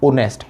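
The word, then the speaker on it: honest: रहा है यहाँ पर, ऑनेस्ट। एच साइलेंट होता है इसमें, तो हमें साउंड देखना है कि ऑनेस्ट बोला है, तो इसलिए हमने यहाँ पे क्या लगाया, एन ऑनेस्ट पर्सन।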